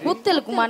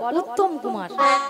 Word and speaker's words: উত্তম কুমার: উত্তল কুমার নয়, বলো উত্তম কুমার।